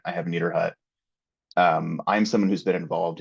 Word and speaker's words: Niederhut: My last name is Niederhut. It's got a lot of letters in it, which sometimes scares people. It's just pronounced like my hut is neater than your hut. I have Niederhut.